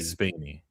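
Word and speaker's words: Spaeny: Kaylee Spaney. It rhymes.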